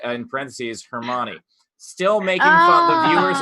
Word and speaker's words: Hermione: of it, and so she pronounced Hermione as Hermoon. Hermione. Or Hermione. No, yeah, it was Hermione.